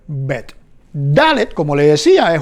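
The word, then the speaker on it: ב: Por ejemplo, tenemos la vet, que con el dagesh va a sonar como bet. Su nombre, vet, sin dagesh, con dagesh, su nombre, bet.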